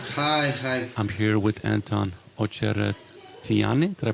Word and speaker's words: Ocheretyanyy: I'm here with Anton Ocheretyanyy. Did I pronounce that right? Yeah, this was correct. Ocheretyanyy and Absolutely.